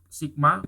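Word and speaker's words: Σ: Itu bacanya sigma, kemudian itu bacanya mu yang kayak huruf M Latin itu bacanya mu.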